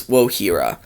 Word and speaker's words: Wojira: Yeah, I always thought she pronounced it like the Spanish way. Because the J in Spanish, it has the same sound as an H. Like if you take the word jalapeno. So I thought that's what she pronounced it as in the Spanish way for some reason. But it's Wohira.